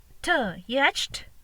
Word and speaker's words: yacht: Y-A-Ch-T. Yacht. No, it's wrong. A letter sound is O. Then yacht. We don't pronounce T letter.